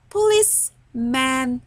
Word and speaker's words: policeman: Number six, policeman. سمعنا ك؟ سمعناش ك خالص.